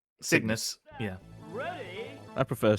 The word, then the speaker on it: Cygnus: How do you pronounce that? Cygnus. Cygnus. Yeah. Ready. I prefer Cygnus.